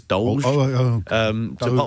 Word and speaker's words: DOLGE: So it's not DOGE, it's DOLGE.